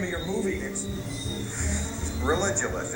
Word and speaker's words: Religulous: name of your movie religionist it's like you're saying religion and then you go to ridiculous for obvious reason well speaking of which